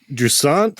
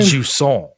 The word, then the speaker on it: Jusant: well, not great, but Jusant, I guess, is the name of this game. Jusant. I like to say it like croissant, like very Jusant.